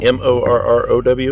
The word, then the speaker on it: Morrow: M-O-R-R-O-W? Is that how you spell your last name? Yes, that's how Morrow is pronounced.